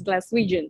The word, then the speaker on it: Glaswegian: Matthew di memang Glasgow sudah 29 tahun, so memang how do you say it's Glaswegian, right?